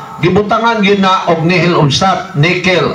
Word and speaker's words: nihil: gina og nihil obstat, nickel. Ang nihil basahon nato diha sa Bible nihil, pero sa pagbasa ana Latin man na siya, pagbasa ana nickel na ang pronunciation ana.